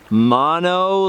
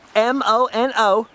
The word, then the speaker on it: Mono: It's pronounced mono, because they were spelling it mono. In my brain, it's mono, like, you know, when you get sick.